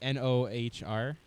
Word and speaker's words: Nohr: What is a North? Is that I like don't a- know if I'm a pronouncing that right. Norse dwarf. It's like Nohr from what I'm reading here. Nor. Nor Nor.